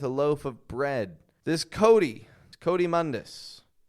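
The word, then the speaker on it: coatimundi: This Coatimundus, with the flap T and the Cody.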